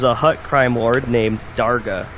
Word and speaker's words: Darga: One such secondary source was a Hutt crime lord named Darga. It's spelled D-A-R-G-A.